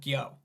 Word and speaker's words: Gyo: Gyo.